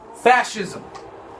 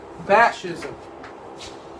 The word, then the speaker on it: fascism: Next word is fascism. Say it with me. Fascism. Say it with me. Fascism. One more time. Fascism. Okay. The C is silent, almost. It almost acts as an H.